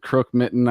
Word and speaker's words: Krokmitën: name again yeah I I just said crook Mitten I hope he said I think that was one of the acceptable versions there there's two popular way of saying